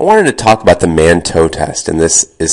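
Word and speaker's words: Mantoux: I wanted to talk about the manto test. And this is spelled m- an o ux.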